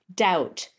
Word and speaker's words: doubt: And his example was the his question was with the word doubt. D O U Bt. Why is the B silent?